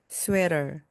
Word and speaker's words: sweater: 가운데 나오는 T는요, 모음 사이에서 리을처럼 발음되면서 부드럽게 나옵니다. sweater, sweater, sweater입니다.